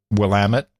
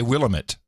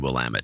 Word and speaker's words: Willamette: my eye, mainly because I know how to pronounce it, Willamette. Most people don't know how to pronounce Willamette. How would you pronounce it otherwise? Oh, people say Willamette. Oh, no, it's always been Willamette.